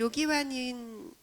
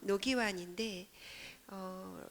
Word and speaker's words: 로기완: 사실 로기완은 한국에서 대한민국에서 발음을 하면 노기완인데 로라는 성을 다른 발음으로 썼기 때문에 한국인이 읽었을 때는 로기완이 대한민국의 어떤 발음이 아니라 북한식 발음이라는 것을 알 수 있어요. 그런 의미가 담겨 있는 제목입니다.